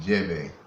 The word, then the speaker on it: djembe: Not only do I play djembe, some people pronounce it jebe.